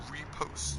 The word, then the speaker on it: riposte: Repost. How's that word? Repost. It is repost, okay.